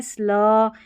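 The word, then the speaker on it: slow: स्लो में ओ डब्लू है ना, इसको ओ पढ़ना है, ओ डब्लू को क्या पढ़ना है ओ।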